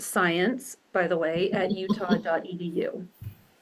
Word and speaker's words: Siantz: there e do science my last name m s i a ntz pronounced science by the way at